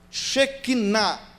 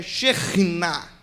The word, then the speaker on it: Shekinah: e na hora errada por exemplo shekinah certo da pronúncia é xenina e o que significa